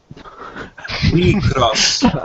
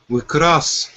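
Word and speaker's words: WIXOSS: However you're gonna pronounce that, you're pronouncing it wrong. We cross. Yeah, that. It pretty much starts with the we, and then the X starts the cross, but then the OSS is just there to kind of help you out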